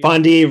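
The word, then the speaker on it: Fonde: Is it pronounced Fondi? Fondi Recreation Center, yes.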